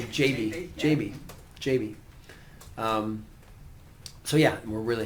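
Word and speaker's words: Gyabi: I learned you pronounce his name JB.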